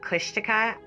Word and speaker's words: Kushtaka: into is exactly that despite learning the correct pronunciation of kushtika i still managed to say it wrong in this video just pretend i'm saying kushtika there's a legend of